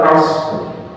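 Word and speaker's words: عصر: Karena shad bukan huruf qalqalah. Jadi bacanya wal asr.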